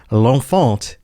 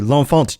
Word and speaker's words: L'Enfant: And I don't know if it's supposed to be pronounced with a French accent or if it's Americanized like L'Enfant. But L'Enfant sounds better than L'Enfant, so we're going to go with that.